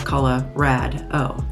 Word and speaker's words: Colorado: that aren't from here say Colorado the wrong way uh it is color rad o like or rad um some people will say Colorado um I'm trying to remember what some of the other pronunciations are but just just remember it's Colorado Arvada um Colorado Springs